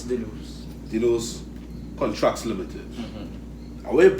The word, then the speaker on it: Denno's: Is DENNO'S, if I pronounce it correct? Yes, DENNO'S.